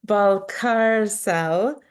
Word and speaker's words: Balcárcel: backwards for you okay ball car cell and it's like the ball in the car and you're not on